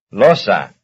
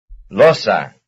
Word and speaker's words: losa: Losa. Losa. Losa, losa, that's the first syllable.